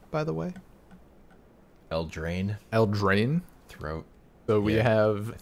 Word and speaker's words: Eldraine: How do you pronounce the set name, by the way? Eldraine.